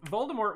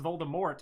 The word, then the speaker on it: Voldemort: It's kind of like um Voldemort wasn't supposed to be pronounced Voldemort. It was supposed to be Voldemort with like like an e like Moore, not Mort.